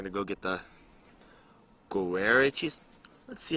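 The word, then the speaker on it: Gruyère: We're going to go get the guarere cheese. Let's see how it's pronounced. I'm curious how cheese is pronounced here. How to pronounce guar, whatever. Gruyere.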